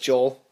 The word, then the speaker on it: Joel: Joel is just Joel.